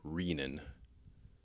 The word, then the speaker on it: renin: not correct pronunciation is with a long e renin as in renal so as with a